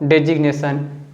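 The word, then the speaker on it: designation: कि सिग्नेचर रेजिग्नेशन और डेजिग्नेशन इन सभी वर्ड्स में जो लेटर जी है ना यह एन के पहले तो आ रहा है लेकिन फिर भी हम जी को बोल रहे हैं तो अब हम सीखेंगे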